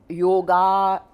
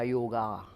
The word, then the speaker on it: योग: अब जो योगा प्रख्यात होगा, योगा, हम भारतीयों को भी योग नहीं बोलना आता।